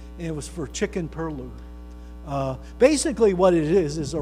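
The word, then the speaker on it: pilau: Chicken perlo, sometimes pronounced perlou, but it's spelled P-I-L-A-U.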